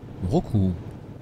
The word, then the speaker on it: Mrauk U: De Sittwe, nous embarquons pour remonter le cours du fleuve Kaladan, en direction d'une ancienne capitale royale, Roku, dont le nom se prononce en birman Yahoo.